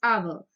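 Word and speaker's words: hour: begun with consonant h here the letter h is silent so the pronunciation is not harbor it is our so it is vowel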